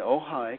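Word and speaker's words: Ojai: having a seminar in ohigh California and that's spelled o j Ai and that's ohigh California where krisna myy used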